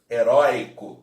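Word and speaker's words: heroica: eurico ninguém falar heróica aqui pronuncia-se mesmo de forma aberta heróica beleza então é isso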